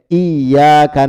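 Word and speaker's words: إِيَّاكَ: Iyyaka na'budu. Perhatikan di huruf iya itu ada tasdid. Iyyaka na'budu. Jadi jangan dibaca iya, bukan iya. Kalau kita bacanya iya berarti kita menghilangkan tasdid.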